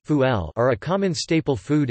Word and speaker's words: فول: Fava beans Arabic, full pronounced fuel are a common staple food in the Egyptian diet, eaten by rich and poor alike.